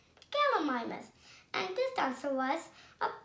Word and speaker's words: Gallimimus: I'm going to tell you how to pronounce it. Gal-e-mi-mus. Gallimimus.